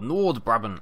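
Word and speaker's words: Noord-Brabant: welcome back to Farm Sim here we are North Bron or norbon as i' been told it is pronounced we're back in our beautiful sunny skies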